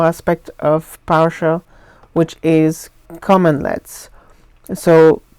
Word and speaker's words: cmdlet: of powershell which is common let's so this is not a typo this is actually the spelling of the word even though it's pronounced commonlet it's cmd led so